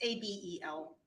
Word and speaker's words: Abel: It's Abel, but I believe it's pronounced a different way. It's Abel. Abel, thank you.